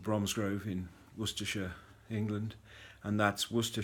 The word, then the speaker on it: Worcestershire: I hail from a town called Bromsgrove in Worcestershire England and that's what stir sure not war sester Shire as most people seem to mispronounce the name